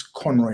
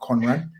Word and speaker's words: Conroy: my fellow colleagues uh is Conroy not Conrad um I'm hoping I'm